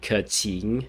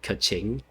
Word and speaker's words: Keqing: of an effort into pronouncing these chinese names a little bit more than other other ones i don't know she's actually saying seeing instead of sing and curtin instead of kaching and yeah and the